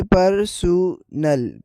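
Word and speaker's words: personnel: इनकी प्रोनाउंसिएशन में भी थोड़ा सा डिफरेंस है। जैसे कि आप देख सकते हैं उर्दू साउंड में पहले नंबर पर है पर्सनल। पर दूसरे नंबर पर है परसल। परसल फर्क वोवेल और स्ट्रेस में है।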